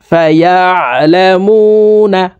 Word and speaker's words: فيعلمون: ইয়া আইন জবর ইয়া, ইয়া আমরা অনেকে ইয়া এইভাবে পড়ে থাকি, আইনের উচ্চারণ সঠিকভাবে পড়তে পারি না, হামজার উচ্চারণ করে থাকি। তো প্রিয় দর্শক দেখুন, শব্দটি এইভাবে পড়ব। ফায়ালামুনা, ফায়ালামুনা আন্নাহুল হাক্কু মির